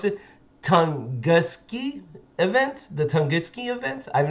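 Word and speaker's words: Tunguska: And this one I can't even say, so I had to look up how to pronounce it. Tunguski event, the Tunguski event.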